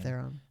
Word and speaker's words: Theron: Theron.